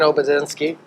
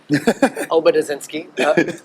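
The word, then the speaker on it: Obedzinski: youngest of US Shane oensi I butchered his name but OB inski which he was he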